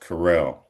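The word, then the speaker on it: Curiel: way it's spelled was cur i e l pronounced carell.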